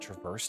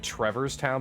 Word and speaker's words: Traverse: that make sense it's it's the word Traverse like to go through the land to Traverse the area it's weird weird did